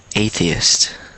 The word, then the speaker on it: atheist: atheist yeah so atheist so it's three syllables so one more time atheist atheist aist so you want to yeah good okay so you want to make sure you get that T at the end because a lot of people might